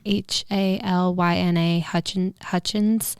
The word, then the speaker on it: Halyna Hutchins: I don't know how to pronounce it. Helena? Yeah. Halyna Hutchins.